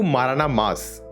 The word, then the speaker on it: Maranamass: So coming to MaranaMass, I'm pronouncing it right? Yeah, Okay, great. MaranaMass.